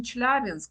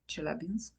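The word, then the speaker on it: Челябинск: For example, I say in Russian Chelyabinsk, but in French it will be Chelyabinsk.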